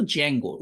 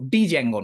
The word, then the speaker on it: Django: এটার উচ্চারণ কিন্তু জ্যাঙ্গো। ডিজ্যাঙ্গো না। ডিটা সাইলেন্ট জ্যাঙ্গো।